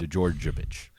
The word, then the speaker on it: Djordjevic: Monsters, Book 2 by Matt Colville, Willie Abiel, James Introcaso, and Robert Djordjevic. I think I said it right this time. Great job. Djordjevic.